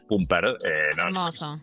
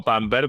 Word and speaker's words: Pumper: Ras Pumper, no Pamper, pero quedó Pamper.